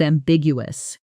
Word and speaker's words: ambiguous: Notice the stress lands on the second syllable. Ambigu. And in fast speech, that's pretty ambiguous often blurs into that's pretty ambigu. Woos. The middle syllables almost swallowed together.